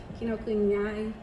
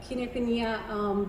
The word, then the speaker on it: Kinokuniya: I just went to the Kinokuniai, how do you pronounce this? Kinokuniya.